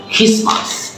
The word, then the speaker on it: Christmas: and Christmas, okay, Christmas, বড়দিন, CHRIST Christmas চটক সময় কি বলবো আমরা Christmas টিটা ড্রপ হয়ে যাবে থ্যাংক ইউ ভেরি মাচ